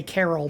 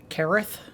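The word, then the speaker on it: Caryll: carol roon we say carol but apparently this is a form of welsh and it's supposed to be pronounced careth a careth rune that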